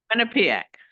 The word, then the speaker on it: Quinnipiac: Quinnipiac. You got it. You got the right pronunciation.